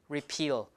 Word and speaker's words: repeal: two repeal right repeal repeal the stress is on on peel okay so when the